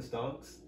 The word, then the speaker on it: stonks: How you pronounce that? The stonks. Stonks? Yeah, with the N.